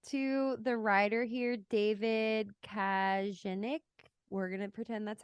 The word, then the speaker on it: Kajganich: The thing, I have to hand it to the writer here, David Kajanik. We're going to pretend that's how you say it. Kajganich.